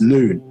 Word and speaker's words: Nun: and explaining them to Nun is pronounced Noon.